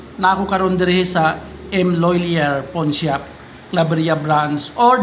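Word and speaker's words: M. Lhuillier: Guys, karon nga adlaw, Domingo, na ako karon diri sa M. Loylier Pawn Shop, Claveria branch, or the correct pronunciation is M. Loylier.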